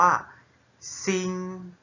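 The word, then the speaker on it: 星: นะ ครับ คัน นี้ จะ ออก เสียง ว่า ซิง Sing Sing Sing อ่ะ assure มัน ก็ เรา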